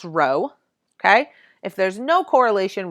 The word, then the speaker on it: rho: like a lower caste case P but it's pronounced Rho okay if there's no correlation Rho equals zero